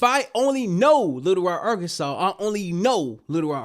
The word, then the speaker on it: Arkansas: them little Arkansas and they proceeded to say our Kansas. I'm like, where are you getting our Kansas from? They was like, well, because it's spelled like Kansas. What are you talking about? It's Arkansas. And it's literally Arkansas. My whole life it's Arkansas. The Arkansas Razerbacks. Arkansas razor bags. They don't say Kansas razor bag.